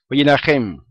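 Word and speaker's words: וַיִּנָּחֶם: dice en hebreo dice wayinajem, ¿ok? Wayinajem, porque tiene un acento en la A.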